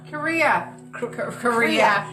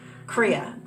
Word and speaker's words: Kriya: Generally, if there's a little Kira yoga. for Kriya. Korea. Not Korea, boy. Kriya. Just plain Kriya.